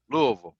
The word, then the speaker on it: Louisville: Indian nut no it's it's l u Lou space v l Louisville that's how it's pronounced for sure you gotta say it